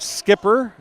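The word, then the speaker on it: Schipper: Skipper, even though it's spelled shipper, I appreciate that.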